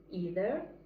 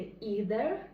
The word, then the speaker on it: either: І що цікаво, що це слово в залежності від того, чи це британське, варят, чи американський, він буде воно буде вимовлятися по-різному. Американське either і британський варіант either.